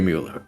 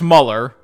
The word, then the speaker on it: Mueller: No more words, dear Mueller. Fly. Fly to my embrace. By the way, it's Muller. Oh, Muller? Yeah. Oh, okay, got it, Muller. Yeah, it's pronounced Muller.